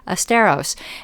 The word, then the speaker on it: Asteros: spelled a-s-t-e-r-o-s dot com even though it sounds like fred astaire esteros and what they do